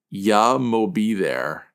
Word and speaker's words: Yah Mo B There: How do you even pronounce the title? Yeah, I'm gonna be there. Yah Mo B There?